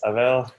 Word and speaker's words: Abel: As stated, my name is Abel, or Abel, either pronunciation is fine.